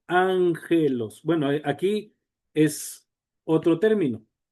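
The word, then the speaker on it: ἄγγελος: Por ejemplo, aquí tenemos dos gamas continuas y ya vimos que se pronuncia ángelos.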